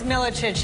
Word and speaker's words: Milicic: How did I pronounce Milicic? Yeah. Did I say it wrong? It's Milicic, yeah.